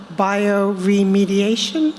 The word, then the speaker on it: bioremediation: You don't know you're looking for 2 books about extreme cleaning, or as you call it, bioremediation. Am I pronouncing that correctly?